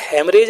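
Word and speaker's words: haemorrhage: एवरेज लिखने में तो ये हेमरेज आपको दिखे रहा है लेकिन इसमें हा आपका साइलेंट होता है ठीक है और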